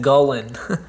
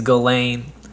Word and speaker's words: Gullane: I think that's how you pronounce it. I always said Gullin when I was a kid, but I think it's Gullane, not Britt Allcroft.